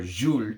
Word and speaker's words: Jules: Coros, Santos de Cartier, Antaeus, Oscar de la Renta pour Louis, Caractère, Jules, or Jules is the proper way to say it, from Dior.